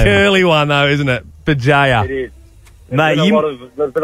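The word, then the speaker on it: Bugeja: Bajaya, sorry, mate. Bajaya's a cool name. That's a curly one, though, isn't it? Bajaya.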